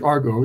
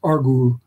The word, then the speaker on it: Argo: We pronounce it in English, argo. It's an omega at the end, so it's an u. It's argu. So it's very likely that